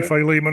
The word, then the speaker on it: Philemon: by Robert Stein we have Colossians and Philemon Philemon is that how you say it in English normally Philemon up here yes by Greg Bill and then